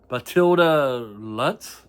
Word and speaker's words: Matilda Lutz: I usually don't like pronouncing names, but it's Matilda Lutz.